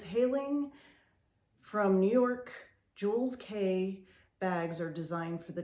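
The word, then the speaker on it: Jules Kea: Okay, this purse is by Jules K, which is spelled K-E-A, Jules K.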